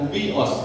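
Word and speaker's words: υἱός: Tapi kalau di teks Yunani berbeda, karena Yohanes 1:12 itu anak teknon, dan Roma 8:14 anak juga, tetapi huios, tulisannya huios, tapi bacanya huios pakai w.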